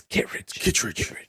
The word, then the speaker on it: Kittredge: You're saying it wrong, Hector. Kittredge. It's Kittredge. Kittredge.